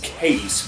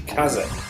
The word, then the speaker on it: Kaze: A good example of that would be this game, which I've heard people describe as Kaze, whereas I, for some reason, immediately assumed it was pronounced as the Japanese would pronounce it, which would be Kaze.